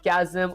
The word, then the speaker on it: chasm: Uh chasm pronounced as chasm. Oh, that actually does make sense.